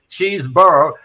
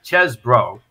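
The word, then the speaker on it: Chesebro: guy's pronunciation again because half the say cheeseboro and I think the correct pronunciation is chz bro right but he's the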